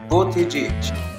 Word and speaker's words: Buttigieg: It should be pronounced Buttigieg. Buttigieg.